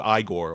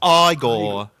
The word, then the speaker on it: Igor: like just because like I'll I'll just quote Igore or Eigor being like, "You'll put me on." No, no, it's pronounced Frankenstein.